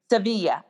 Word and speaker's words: Sevilla: It's like, I think Adriana, when her travels and when they were in Sevilla, and I'm pronouncing it incorrectly. Sevilla. But when they were, say it again? Sevilla, right.